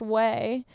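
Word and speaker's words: Ouai: a little gift um way o a u i pronounced whey um is a great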